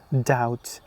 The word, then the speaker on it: doubt: No, they are sometime they are somehow different and they are debt doubt subtle. The B is followed by T in all of them. So you don't pronounce the B.